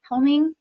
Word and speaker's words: Helming: Helming? Did I say it right? Yeah, Helming. Okay, I was going to put an extra L in it.